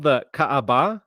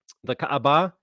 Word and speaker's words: Kaaba: on with this Cube It's called the Kaaba I believe is how you say it the Kaaba the cube is uh very